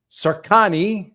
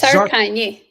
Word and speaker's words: Carkanji: I'm speaking to Carkanji. Did I say it right again? You missed it this time. It's okay. It's Carkanji. Carkanji. Is that a little bit better?